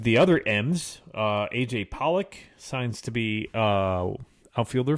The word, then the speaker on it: Pollock: you say his name Pollock Pollock like the fish so you know why